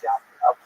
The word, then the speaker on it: Yavnea: So the Roman term for Yavne is Yavnea, sometimes with a J, pronounced J, but really it's Yavnea.